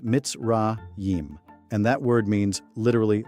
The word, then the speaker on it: Mitzrayim: The ancient Hebrew name for Egypt, the place where our ancestors were slaves, is Mitzrayim, pronounced Mitzrayim.